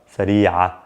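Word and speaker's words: سريعة: Sayyara sari'a. I added an a sound at the end, which is essentially the ta marbuta.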